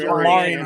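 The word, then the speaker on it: Omarion: probably take the next available off the board, O'Marion. Yeah. And I'm guessing that's how it's pronounced. Yeah, you're correct. It's O'Marion Hampton.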